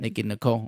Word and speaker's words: Nicki Nicole: again Nicki n her I keep wanting to call her Nicollet cuz I can't say her name but like it's just Nikki and then Nicole that's it Nicki Nicole okay without her uh situation